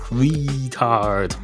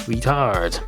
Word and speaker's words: retard: It's not retard, it's retard.